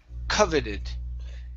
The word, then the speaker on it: coveted: So our stress is at the very beginning of the word coveted.